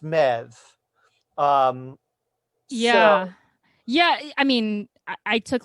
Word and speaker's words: Medbh: The Irish is that the spelling always hurts my head because it's like MEDBH or something like that, and it's apparently pronounced Mev.